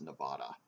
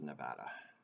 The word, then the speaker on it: Nevada: it when you refer to their state as Nevada its Nevada and it reminds me of when I was